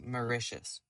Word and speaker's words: Mauritius: It's pronounced Mauritius.